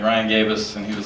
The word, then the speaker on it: Gabos: And he said, "And you forgot a Y after the A." And I was like, "Well, it's my last name." He's like, "You got gay in your last name." I was like, "Right, but you know, phonetically, yeah." And he I was like, "There's no Y."